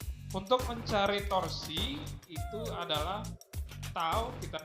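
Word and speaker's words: τ: Yang pertama, jika tegak lurus, untuk mencari torsi itu adalah tau, kita bacanya tau, sama dengan F dikalikan dengan D.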